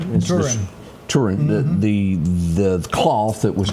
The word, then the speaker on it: Turin: The shroud of, you pronounce it Turin? Yeah, Turin.